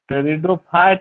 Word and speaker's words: टेरिडोफाइटा: तीसरा, टेरिडोफाइट या टेरिडो? टेरिडो में पी क्या है? साइलेंट है।